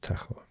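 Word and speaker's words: Tajo: it's the Taho River I guess it has different pronunciation in different languages but in castian I think it's pronounced Taho it also starts here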